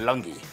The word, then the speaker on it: Lungi: I speak of nothing else but Lungi versus Pant, or Pant, to say it correctly, and Lungi, to say it actually correctly.